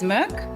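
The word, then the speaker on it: Mörk: It is pronounced uh our director is Swedish, so the actual proper pronunciation is Merc.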